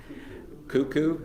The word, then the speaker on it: Cuckoo: keeper in Louisa County in I believe it's pronounced caku. I don't know. Cuckoo.